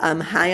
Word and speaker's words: Chai: Yeah, and High on Life. I say it High on Life, but it's spelled CHAI, so like chai tea.